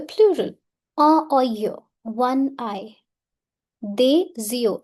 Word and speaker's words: des yeux: Des yeux, S will overlap Y. Des yeux.